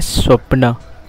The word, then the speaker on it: स्वप्न: में सपना के तहत और मराठी का उससे शुद्ध उच्चारण है स्वप्ना बट यह देखो सपान